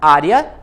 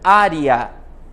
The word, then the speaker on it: área: ser pronunciado como iato então eu posso falar área tudo junto ou Ária URI e o a separados eatos as vogais i e